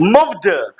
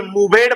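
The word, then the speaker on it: moved: पढ़ते हैं ठीक है ऐसा नहीं कि मवेट पढ़ देना मूवे या मूवे तो मूवे मवेट नहीं होगा मूव्ड होगा क्या होगा मूव्ड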